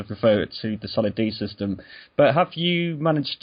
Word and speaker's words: Soliddd: We pronounce our name Solid. You don't have to say Soliddd.